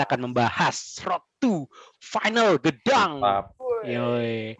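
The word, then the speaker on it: Gdańsk: Oke, nih langsung aja nih kita ke inti dari konten, yaitu kita akan membahas Road to Final Gedang. Yoi. Bacanya bener-bener kan bacanya Gedang ya?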